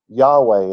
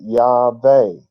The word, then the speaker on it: Yahweh: Because their W in the German language made the V sound. So they were pronouncing it Yahweh because they knew that's how it was supposed to be pronounced.